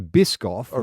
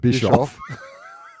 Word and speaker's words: Biscoff: We've got the Bisoff which I have pronounced correctly for the first time ever and not called Bishoff.